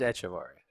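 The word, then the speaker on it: Echevarria: i'm not going to get the last name i'm not good with names etchevaria echevaria it's not eck it's it's echeveri we're good i think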